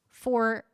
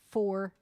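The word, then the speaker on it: Fauré: Faure, he said. Faure, like the number 4A.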